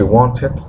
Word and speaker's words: wanted: pronuncia, en este caso, como el verbo termina en un sonido de T, tengo que pronunciar la ed. Entonces es she wanted to buy a jacket too.